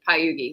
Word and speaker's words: Pagliughi: um, so last name is technically still, but it's Pagliughi. So Pagliughi. Pagliughi, Pagliughi. If you pronounce it, people in America pronounce it Pagliughi, but it's Pagliughi is how you actually say it.